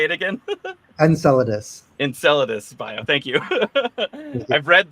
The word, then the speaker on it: Enceladus: loud how do you say it again Enceladus Enceladus bio thank you I've read the word many